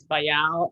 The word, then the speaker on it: Bayard: And, you know, it actually comes from, there's a French name, Bayard, and that's where it comes from. It's Bayard, I guess, in French. So, you know, it's not a big deal, but people tend to mispronounce his name.